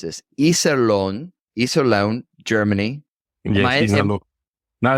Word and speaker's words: Iserlohn: Kempes, you are from, I'm going to mispronounce this, Iserlohn, Germany. Yes, Iserlohn. No, it's good. It's Iserlohn.